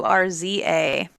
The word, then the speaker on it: Urza: Urza. Kind of like Ursa, because at some point in the future, she gonna be riding a bear and fighting, but with Yeah. a Z because she's an orc.